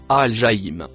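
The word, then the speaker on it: الجحيم: Le mot en rouge, se prononce, Al-Jaïm.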